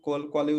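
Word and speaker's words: Khan: तो क्योंकि H silent हो जाता है और ए और एन है, तो ये आ भी क्या हो जाएगा, नाक में रह जाएगा। तो खान पूरा पढ़ने के बजाय वो क्या पढ़ेंगे, कां, है ना?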